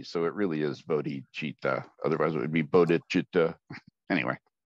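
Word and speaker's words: bodhicitta: with todichita I've heard people say It's Not Buddy cheetah it's because it's not it's not some cat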